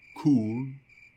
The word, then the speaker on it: Chuul: Bref, le CHUL, j'ai vu comme plein de gens le prononcer de manière différente sur internet. J'ai écouté comme plusieurs vidéos de gens qui parlaient de la créature juste pour entendre leur prononciation. Et celle qui revient le plus souvent est le Chul.